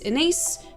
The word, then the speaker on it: Ines: who doesn't know me my name is inise rhymes with face or space I'm mostly known for